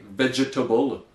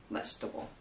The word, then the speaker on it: vegetable: Yeah, words that finish with able, like we see in table, or, they have a tendency to be pronounced as bull. So you might have the word vegetable, for example, and people want to say vegetable. No, yeah, we just make veja is vetch, and then table. Vegetable.